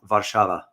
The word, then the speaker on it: Warszawa: For example, when you think about Warsaw, Warsaw spelled with a W, but if in Polish pronunciation, you pronounce it as Warszawa.